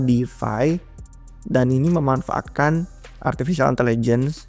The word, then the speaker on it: DeFAI: nulis artikel tentang Difi tapi defy-nya bukan yang Deffi kayak biasa tapi ai-nya ada jadi bacanya pun sama Defy dan ini memanfaatkan artificial